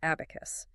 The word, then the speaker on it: 4B4KU5: Spelled with a four, a B, a 4K U5, pronounced abacus.